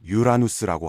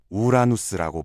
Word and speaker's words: 우라누스: 어떤 사람들은 유라누스라고 하고 또 다른 사람들은 우라누스라고 발음합니다. 아직도 천문학자들 사이에서 정확한 발음에 대한 합의가 이루어지지 않았을 정도입니다.